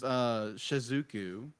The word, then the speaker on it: Shizuku: So it's Shizuku.